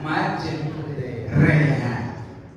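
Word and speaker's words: مجريها: Contoh baca imalah Bismillahirrahmanirrahim, tulisannya bacanya majreha.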